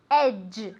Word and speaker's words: edge: Edge okay Edge and be careful with the pronunciation Edge as if it were a CH but softer okay Don't Go Near